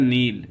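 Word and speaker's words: kneel: फिर उसके बाद होता है नील। ये देखो यहाँ पर जो है के जो है ये साइलेंट है, अच्छा लिखा तो ज़रूर है, अगर के बाद एन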